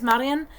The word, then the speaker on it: Marjan: It's Marjan, and I'm pretty sure it's Marian, with a y, not a j.